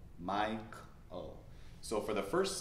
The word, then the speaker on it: Michael: It's pronounced Mike-O. Mike-O.